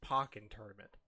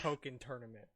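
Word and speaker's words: Pokkén Tournament: is closed right now it's poking tournament you're all stupid this is like the new gif versus jiff except it shouldn't even be because it's really obvious what it's supposed to be a play on but they're all like it's pocket i'm like but it's a part of pokemon's franchise i'm pretty sure it's poking yeah like to give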